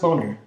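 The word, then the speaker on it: Boehner: speak of the House John Banner's name is actually pronounced boner I'm sorry that's not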